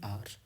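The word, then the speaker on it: hour: एक घंटा, एन आर। एच का साउंड यहाँ पर साइलेंट होता है, इसीलिए हम यहाँ क्या लगाएंगे?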